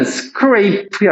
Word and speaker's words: scrap: 이거는 scrape야, scrape. 이거야, 이거. 되게 싫지? 뭔가 쓱쓱 긁는 게 바로 scrape야. 이거는 발음이 scrape이야. 이렇게 짧게. scrap, 얘는 scrape. long vowel, short vowel.